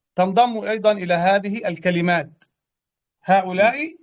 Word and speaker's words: هؤلاء: هؤلاء يعني المفروض أن تكون هكذا، هؤلاء، لكن في النطق تكون هكذا، هؤلاء، يبقى هنا ألف.